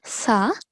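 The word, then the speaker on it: ث: So we are going to pronounce it as Sa. Z. Okay, let's try that once more. Sa. Sa. Okay, so for Sa, the tip of the tongue is touching upper front 2 teeth.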